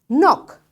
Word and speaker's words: knock: Knock. Knock knock knock. So this K is silent.